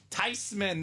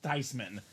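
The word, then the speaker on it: Theismann: you know she's right that's a German name it should be pronounced tysman he saw the spelling he was like it's tysman what are all these people call him tysman for I mean come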